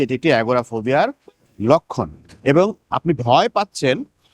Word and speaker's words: agoraphobia: করে বলেন 11 ফোবিয়া তো এটা আসলে ইংরেজি উচ্চারণ ইংরেজি হচ্ছে যে বলে এটা এগোরাফোবিয়া এগোরা মানে মার্কেটপ্লেস বড় একটা উন্মুক্ত স্থান বা